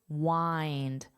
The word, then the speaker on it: wind: So this is your reference word, find. All you have to do is replace the F with a W, but the rest of the word is pronounced the same. So if you get rid of the F, you have eind, and then you just add your W, wind, wind.